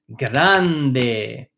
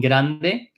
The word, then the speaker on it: grande: We talked about one piece of advice, which if you're struggling with that R in grande, it's kind of like saying get on de, right, in Spanish.